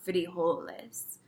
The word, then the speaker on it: frijoles: But at least in Mexico and in Central America, as far as I know, they're called frijoles. And again, that J has an H sound.